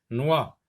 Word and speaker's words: noix: Noix, ici non plus. X est une lettre muette.